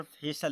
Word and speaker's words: facial: देखिए यहाँ पर FACIAL, यहाँ पर फेशल लिखा है। क्या लिखा है दोस्तों? फेशल। तो यहाँ में सल का उच्चारण किस प्रकार निकलता है, यहाँ पर सल